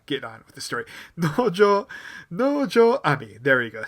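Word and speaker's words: 能條愛未: Nojo Ami. There we go. I said it right. Nojo Ami, who is an actress and also, more importantly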